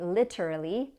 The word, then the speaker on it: literally: literally literally like totally literally has a t between two vowels and the syllable before is stressed literally so that t sounds like a d but if you prefer to say literally that's okay too literally literally literally literally